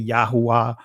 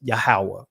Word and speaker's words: Yahweh: form which is yah now some of you guys will say yahweh some would say yahuwah you know but the ancient pronunciation is yahweh right but it's not